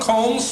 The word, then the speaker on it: Colmes: to pronounce that because it's like Sherlock Holmes with a C Alan Colmes who's the host of